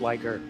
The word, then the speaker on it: Ligier: Is this one of the most successful outings we've seen for the Ligier? It's pronounced liger.